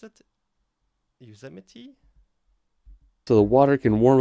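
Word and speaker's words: Yosemite: Lake Tahoe Y is one how do you pronounce it yuse so the water can warm up a little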